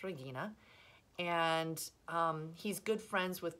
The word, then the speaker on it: Regina: his wife Regina and in English we would press at Regina but in Latin it's pronounced Regina and he's good friends